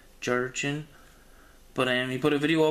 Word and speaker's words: Gerrchin: I think his YouTube name is pronounced Jurchen, I think. Jurchen.